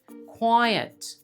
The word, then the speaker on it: quiet: 2 syllables. quiet.